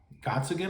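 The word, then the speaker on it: Gottsagen: has Down syndrome, and his name is Zach Gottsigan, I believe is how you pronounce his last name, and he plays Zach in the movie.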